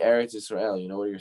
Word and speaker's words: Eretz Yisrael: He says, what does it mean, Eretz Yisrael? That's how you say it in Hebrew, right? The land of Israel. Eretz Yisrael. He says, Eretz is from the root word that shares the same root word as Ratzon.